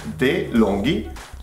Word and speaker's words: DeLonghi: And it's DeLonghi.